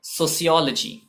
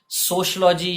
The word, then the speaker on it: sociology: और ये वर्ड है सोशियोलॉजी। जी हाँ, सोशलॉजी या सोशोलॉजी या कोई भी इस तरीके का प्रोनाउंसिएशन इसका इनकरेक्ट होता है। पहली बात तो ये लॉजी के पॉइंट ऑफ व्यू से इनकरेक्ट होता है, लॉजी बोलने से इनकरेक्ट होता है। दूसरी बात, इसमें सोशियो या सोशो जैसा कुछ नहीं होता,